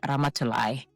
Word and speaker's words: Ramatoulie: I'm just gonna correct the name pronunciation, just the end of it. It's Ramatulai. Right.